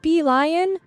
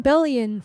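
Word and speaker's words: Belion: It's pronounced bee lion. I've been saying bellion for like the past two patches.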